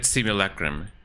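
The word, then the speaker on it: simulacrum: How do you say it in English? As far as I am concerned it is it is said simulacrim.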